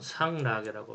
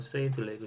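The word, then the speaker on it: Sainte-Laguë: 그래서 최고 평균법은 동트, 세인트 레이그 또는 상라게라고 부르죠. 상라게. 영어식으로는 세인트 레이그 시스템.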